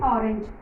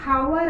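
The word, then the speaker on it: hour: Next and orange and ಆರ್. ಇಲ್ಲಿ ನೀವು ಅನ್ಬಹುದು ಏನಂತ ಎಚ್ ಬಂದಿದೆ. ಇಲ್ಲಿ ಹ ಕಾನ್ಸನೆಂಟ್ ಇದೆ. ಇದು ಹೆಂಗಿದು ನೀವು ಇಲ್ಲಿ ಆ್ಯಂಡ್ ಬರೀತೀರಾ ಅಂತ. ಆದರೆ ನಾವು ಆ್ಯಂಡ್ ಹವರ್ ಅನ್ನಂಗಿಲ್ಲ, ಅದಕ್ಕೆ ಹ ಅಂತ ಉಚ್ಚಾರ ಮಾಡಿಲ್ಲ.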